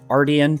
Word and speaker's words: Artian: Yes, it is pronounced Artian.